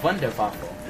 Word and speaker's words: Wunderwaffe: In German, if you would say it, is Wunderwaffe, because they pronounce their W's like V's for some reason.